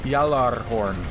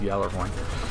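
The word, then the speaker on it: Gjallarhorn: and by the way I looked it up it is y'all are horn not gallery 1 so they say it wrong in the game it's a yellow horn if you say it correctly in Norse but just in regular old english it's yellow point anything else bud yeah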